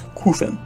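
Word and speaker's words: Qufim: 20 to 30 crew from island it is pronounced kuffin by the way i don't care what you say it's qufen 30 to 40 i would recommend gareth citadel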